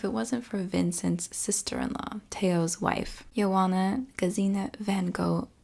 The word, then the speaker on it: Theo: I'm sorry and I'm pretty sure his brother's name is pronounced Teo I'm probably gonna say Theo a lot I do my best